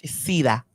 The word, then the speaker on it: SIDA: Oh, that's how you say it in in Spanish. Sida.